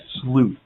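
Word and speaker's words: sleuth: know we pre you are you are a slute he said sluth by the way just pronunciation person purposes sluth so um it was on the world news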